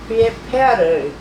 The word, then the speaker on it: pH: 여기서 얘는 보통 만들어질 때 폐하를 보통 이제 pH라고 쓰고 읽기는 폐하라고 읽습니다.